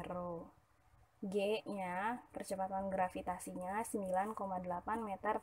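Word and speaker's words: ρ: Tulis rho ya, bacanya rho.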